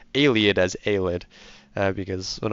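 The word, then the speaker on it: Ayleid: I always pron mispronounce Alid. Oh, sorry. I always pronounce Aliad as Alid. Uh because when I was young, I always pronounced it al-ID.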